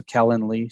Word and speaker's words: Calendly: you spell that it's it's like calendar but with an ly so calendly c-a-l-e-n-e-l-y okay yeah really